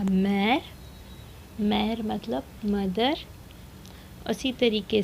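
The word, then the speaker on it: très: उसी तरीके से है TRES, यहाँ पर भी ई के ऊपर एक्सोग्राव है, तो होगा त्रे।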